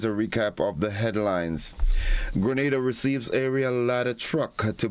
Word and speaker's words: Grenada: So, today, like we Germans say, we are in Grenada. But I heard in English it's called Grenada. Say it right. Grenada. Say it right. Grenada. That's right. Grenada. There we go. Say it right. It's Grenada. It's not Grenada. It's Grenada. Say it right.